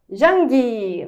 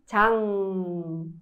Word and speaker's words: 장: E aqui, no português, todo mundo me chama de Jang, não é mesmo? Mas, na verdade, é Chang.